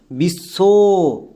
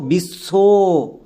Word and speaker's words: বিশ্ব: যেমন পুরো নামটাকে উচ্চারণ করো। বিশ্ব যেমন দেখো বিশ্ব এখানে কিন্তু বইয়ের উচ্চারণ পাচ্ছি না। সো বইয়ের যদি আমরা উচ্চারণ না পাই তখন আমাদের বই সাইলেন্ট থাকবে।